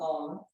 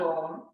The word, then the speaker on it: Om: The third sound of Om is known as the kara, or the syllable.